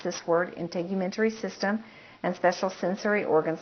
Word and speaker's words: integumentary: is one of those systems it's hard to pronounce integumentary is how you pronounce this word integumentary system and special sensory organs like the ears